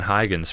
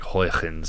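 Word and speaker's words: Huygens: contemporary of newton um and that's not how you say his name if there's any dutch people listening i know he's a dutch guy and so his name is like hoytens or something like that anyways he was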